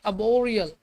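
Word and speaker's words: arboreal: Spelling लिखी हुई है इसमें आर साइलेंट रहता है। इसको पढ़ते हैं अबोरियल।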